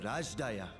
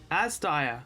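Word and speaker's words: Azdaya: We will brave this broken world and rescue my sister Ajdaya. Asdaya. That's how you pronounce it.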